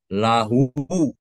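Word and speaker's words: لَهُ: Nah, jika dibuang huruf alif dengan lam pertama, nah jadi Allah alif lam alifnya dibuang, lam pertama dibuang, tinggal lam dengan ha, bacanya lahu, lahu ya.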